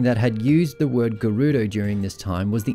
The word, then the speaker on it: Gerudo: So if we get rid of the man part, we're left with Ge-Ru-Do, or Gerudo.